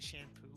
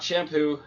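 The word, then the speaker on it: Champloo: um Samurai shamp PL Samurai shampoo not shampoo shampoo it's spelled with the ch ch a m PL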